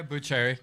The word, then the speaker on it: Buccheri: So I'm going to turn the mic over to my next author, Buccheri. Am I saying it right? Yeah, Buccheri.